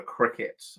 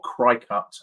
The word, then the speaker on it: Cricut: amazing machine called a cricet and if anybody knows crafting or anything like that a Cricut Machine or cry cut as it is spelled um you can do